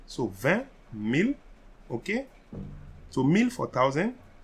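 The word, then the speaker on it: mille: so 12 mil so you see we said meal that word meal so in french thousands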